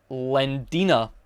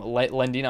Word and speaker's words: Lendina: Anyway, then we are introduced to a character called Lendina, is how you pronounce her name. Lendina, I'm pretty sure that's how you pronounce her name.